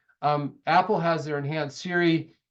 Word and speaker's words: Siri: Apple has their enhanced Siri it's it's one of the most challenging wake wordss out there it's just Siri it's not hay Series so it's two syllables there's no good hard